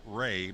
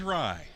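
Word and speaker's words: Rei: I'm mixing up Rye's name and calling him Ray because it's spelled R-E-I. The pitch. But his name is Rye, as in rye bread.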